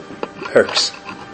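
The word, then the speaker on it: Hoechst: a company called HOECHSD, Herx. They were spelled Hodge, but pronounced Herx, German company.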